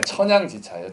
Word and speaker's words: 천양지차: 네, 천양지차예요. 천양지차. 이게 양자가 땅 양자입니다. 천지지차하면 좀 발음이 이상하니까 이렇게 한 것 같아요.